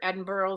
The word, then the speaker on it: Edinburgh: pretty cool um Cassie says made me picture Edinburgh Scotland that's how it's pronounced in Scotland I was very firmly corrected